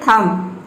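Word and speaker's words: thumb: उसी तरह से यहाँ पे देखिए थम, ये थम्ब नहीं होता है, ये होता है थम्ब। प्लम्बर, प्लम्बर, ये प्लम्बर नहीं होता है, ये होता है प्लम्बर, इसमें बी साइलेंट है।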